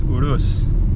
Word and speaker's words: Urus: show let's do this pronouncing eurus wrong the whole time and it's urus so hey you leave